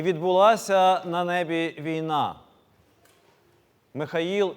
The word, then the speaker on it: Михаїл: з давнього єврейської мови у церковнослов'янській вимові звучить як Михаїл але і зазначили що